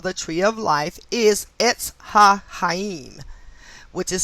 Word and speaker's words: Etz HaChaim: As we learned last chapter, the Hebrew name for the tree of life is Etz HaChaim, which is spelled E-T-Z, small h-a, capital C-H-A-Y-I-M. Tree of life, Etz HaChaim.